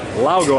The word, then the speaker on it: Laugo: Actually, it's not Alien, it's Laugo, I believe is how it's pronounced.